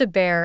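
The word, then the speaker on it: Hebert: my name is a bear pronounced a bear in cjun country I was just thinking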